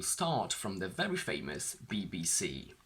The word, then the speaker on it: BBC: Let's analyse these words, and we will start from the very famous BBC. Can you hear a difference between BBC and BBC News? You will have noticed that I shifted the stress.